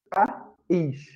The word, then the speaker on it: país: E esse I aqui de país, ele é uma vogal.